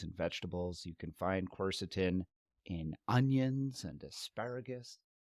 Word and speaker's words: quercetin: So quercetin. And we're pronouncing it the way we think it is. I didn't actually look in to see how it should be phonetically pronounced, but quercetin seems right.